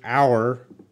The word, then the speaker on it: hour: course in other words an hour the H is silent the H is not